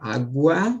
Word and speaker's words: água: para cá pega aqui a palavra água Ó eu tenho o Gu aqui tenho né Ele é dígrafo Pessoal esse Gu não de forma alguma por quê Porque É pronunciado né tu fala agua e não h h tá